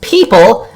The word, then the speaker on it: Pipple: So one of the region's fastest growing fintechs, Pipple, pronounced People, okay, now I know,